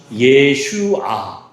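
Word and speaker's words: ישוע: 그러니까 뭐라고 읽는 거예요? 예슈아. 예슈아. 저게 예슈아라는 말의 이제 발음이고요.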